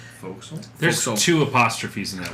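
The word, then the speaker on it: fo'c'sle: the quarter deck and the foxel mhm which I think that's how it's pronounced foxel there's two apostrophes in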